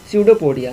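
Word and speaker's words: pseudopodia: तो देखो इसका फिक्स्ड नहीं होने का वजह है स्यूडोपोडिया, यहाँ पर पी साइलेंट होता है याद रखना, स्यूडोपोडिया।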